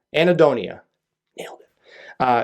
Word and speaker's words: anhedonia: way i also wrote down the way it's pronounced so i don't mess this up it's called annie donia anaedonia nailed it uh it's a word that describes